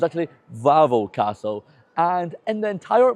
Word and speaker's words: Wawel: Yes, I was pronouncing it Wawel the whole time, but I forgot that in Polish the W sounds like a V, so it's actually Wawel Castle.